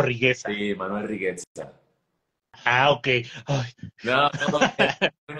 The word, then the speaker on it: Riguezza: ¿Lo pronuncié bien? ¿Es Rigueza o Rigueza? Sí, Manuel Rigueza.